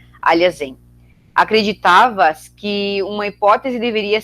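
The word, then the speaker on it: Alhazen: Seria o nome dele aportuguesado, digamos assim, né? Para quem fala português, a pronúncia do nome seria próxima a essa. Aliazen.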